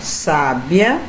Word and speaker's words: sábia: Então observe aqui, gente, a mesma palavra, porém com sílabas tônicas em determinado lugar. Ó, sábia, sabiá e sabia. Parece ser a mesma coisa, mas não é não, gente. Observe aí a tonicidade.